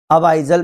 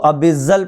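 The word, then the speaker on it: abyssal: सकते हैं अपन लोग, अबाइजल प्लेन्स बोल सकते हैं। कई लोग इसको अबिजल प्लेन भी बोलते हैं, ठीक है। मैं इसको हमेशा अबाइजल प्लेन बोलता हूँ। ठीक है, प्रोनाउंसिएशन हर किसी का अलग हो सकता है, लेकिन दिमाग में रखना अबाइजल प्लेन।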